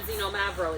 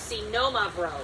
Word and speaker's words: Xinomavro: Xenomavro. It's not Xenomavro. It's Xenomavro. So all the reps who've been coming into my Ayurvedic.